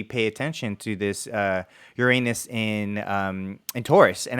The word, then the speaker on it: Uranus: which we had said would be is it Uranus or we doing okay we're talking about Uranus in in Taurus right Uranus so um the correct pronunciation is Uranus unfortunately for those people out there that can't